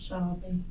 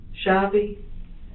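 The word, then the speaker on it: Shavi: Shabi. Shabi.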